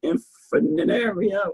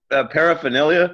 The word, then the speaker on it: paraphernalia: How you pronounce it? Infinario. How you pronounce it? Paraphernalia?